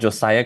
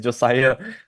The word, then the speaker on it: Josiah: Not Josia. It's Josiah.